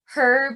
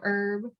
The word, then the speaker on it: herb: Yeah, and they say like herb instead of herb.